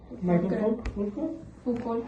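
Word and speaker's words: Michel Foucault: Ok, ¿cómo se pronuncia? Michael Foucault, creo.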